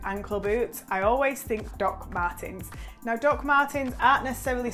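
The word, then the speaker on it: Dr. Martens: So these are the two options that I picked from Dr. Martin. Dr. Martin, why did I say it like that? Like I've never heard, Doc Martens.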